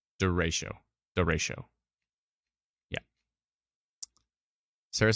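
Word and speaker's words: derecho: duration or Cho ciao duration ciao I voice pronounced it direct derecko no it's it's the ratio the ratio yeah Sarah says driving through the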